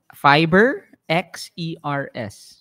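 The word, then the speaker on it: FiberXers: sirs fibber s fiber ano yung fibber s fiber x e r s x e r s fiber x e r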